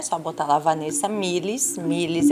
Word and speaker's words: Milis: Milis é M-I-L-I-S, tá? Assim como se pronuncia.